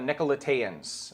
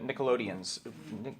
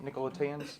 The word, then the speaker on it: Nicolaitans: So they talked about the Nicolaitans or the Nickelodeons. Is that the right way to say that? Nicolaitans? Something like that. It's not Nickelodeons. That would be the wrong way to say it.